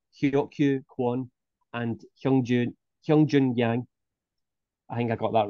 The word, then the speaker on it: Yang Hyun-jun: Heroku one and hyungjoon hyung Joon yang I think I got that right anyway so it's a little different because it's they pronounced their last name first so be yangtion oh